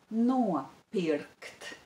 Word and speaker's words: nopirkt: The stress is on the syllable no and on the syllable bi.